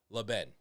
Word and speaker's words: LeBen: Her name is Claire, and her last name is LeBen. Hopefully he said that correctly. You know why I know I said it correctly? Yeah. Because Nate said he showed me how to pronounce it correctly.